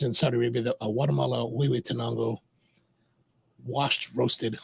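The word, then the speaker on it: Huehuetenango: Years ago, I met a guy, and he insisted on pronouncing Huehue Tenango as Hoi Hoi Tenango. Hoi. What in H-U? Even in English, it's Hugh, right? It could be Hugh Tenango, right?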